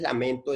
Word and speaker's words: lamento: y sin lamentó entonces lamento es una palabra grave porque es útil su mayor fuerza de voz ya está en la sílaba men que es la penúltima